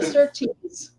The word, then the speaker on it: Sirtis: And Marina Sirtis instead of Sirtis.